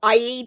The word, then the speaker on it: Aida: I share information hints and tips on one area of crossstitch in a short video in this video I'm focusing on a fabric a or IA fabric you can pronounce it either way is one of three